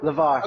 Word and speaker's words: LyVar: been hey I am good I did I pronounce your last name right is it Lavar laar Lavar yes okay right I wanted to make sure